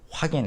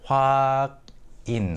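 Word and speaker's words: 확인: Hwak in hwak in, but the pronunciation is hwagin.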